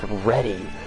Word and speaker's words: Reddy: Like, I shouldn't have to tell my fucking reading and English teacher my last name's pronounced Reddy.